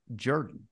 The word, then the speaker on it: Jordan: South uh the name the same name which is spelled the same way as Michael Jordan is pronounced Jordan well when when I